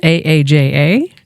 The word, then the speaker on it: Aja: I you know we it should have been spelled aaja that's the way you phonetically spell it and the Hindi Urdu word it means come over but visually Aja looks